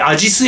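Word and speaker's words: 阿知須: アジス駅って読むらしいです。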